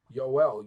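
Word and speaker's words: יואל: the book of yoel yoel yoel means yahwah is God so now yoel the Hebrew alphabet does not have a j sound yoel right so how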